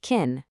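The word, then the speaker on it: կին: And for wife, it's super simple, just keen, pronounced kin.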